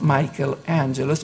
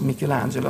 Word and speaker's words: Michelangelo: Michelangelo is often pronounced in English as Michael-Angelus, but in the original it was Michelangelo.